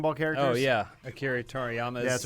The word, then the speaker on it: Toriyama: I am looking forward to the Photoshop of Spike Spiegel with the Akira Tomiyara. Tomiyara? How do you say it? Akira Toriyama.